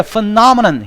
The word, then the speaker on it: phenomenon: 자, phenomenon 이거 피노메논이라고 읽으면 안 돼. phenomenon 현상이란 뜻이야.